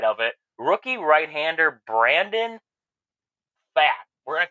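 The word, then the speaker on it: Pfaadt: it, rookie right-hander Brandon Fat. We're going to call him Fat because it's spelled P-F-A-A-D-T. I'm assuming the P is silent, so we're going to say Fat, something like that.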